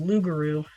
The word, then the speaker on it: rougarou: Um, but yeah, it's pronounced lugaroo.